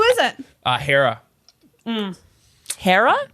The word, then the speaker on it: Hera: it uh hera um hera cara rhymes with sarah yep h-e-r-a g-r-a she's